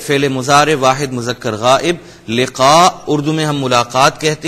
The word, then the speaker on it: لقاء: فمن كان يرجو لقاء ربه فمن كان يرجو لقاء ربه لقاء قاف کو انڈر لائن کر لیں, ہم لقاء کہتے ہیں, اسے تلفظ آپ نے ٹھیک کرنا ہے لقاء.